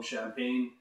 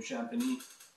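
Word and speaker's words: Champagnie: Now I know I call him Champagne, just because it sounds cool. I'm gonna call him his real name, Champagny.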